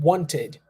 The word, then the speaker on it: wanted: repeat want want and wanted wanted you see that we are I'm pronouncing the Ed there because we have te d as I said before